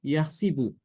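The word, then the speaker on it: يحسب: Yahsabu untuk Imam Ibnu Katsir adalah dengan mengkasrokan huruf sin. Jadi dibacanya yahsibu. Yahsibu annama lahu akhladah.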